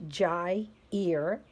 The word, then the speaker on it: Gyre: called the North Pacific Gyre that's pronounced Jai ear and it's around Alaska